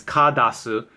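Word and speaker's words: Carddass: The proper pronunciation is kadasu, like it means like card coming out, or it's spelled card ass, depending on how you want to say it.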